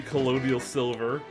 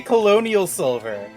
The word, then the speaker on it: colloidal silver: tasty colloidal silver. That's not how you pronounce it, I just don't remember how to pronounce it. Colloidal silver? Colloidal silver, thank you. Why did you say colonial silver?